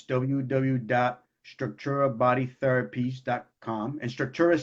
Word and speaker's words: Structura: And Structura is spelled without, and it's like structural, but without the L.